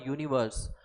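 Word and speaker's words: universe: Used before the word यूनिवर्स। अब यहाँ देखो यू है, यू एक वॉवेल है, डिस्पाइट डैट इसका उच्चारण जो है वो यू आ रहा है, इसलिए एन का इस्तेमाल नहीं करेंगे।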